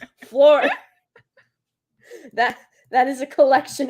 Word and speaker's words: Fleur: there we go Fleur you mean flyer is that how you say it I say floor yeah her name's Fleur I say Fleur Fleur Fleur isn't that what I'm saying no you were saying flea worm whatever that is flea Fleur isn't it